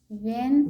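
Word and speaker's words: when: resources resources हां only वेन वेन में एच जो है साइलेंट है तो ई एन को एन बोलेंगे और डब्लू को व बोलेंगे तो वेन हो गया वन दे वन दे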